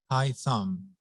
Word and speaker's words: Haitham: My first name is hard to pronounce, but if you think of your thumb, high thumb is a kind of a close approximation.